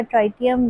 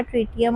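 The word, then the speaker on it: tritium: तो, इसमें जो थर्ड आइसोटोप है हाइड्रोजन का ट्राइटियम या ट्रिटियम। हम इसे दोनों तरह से प्रोनाउंस कर सकते हैं।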